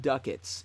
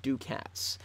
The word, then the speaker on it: ducats: sound like an idiot pronounce it Duckett's instead of ducats my buddy C 13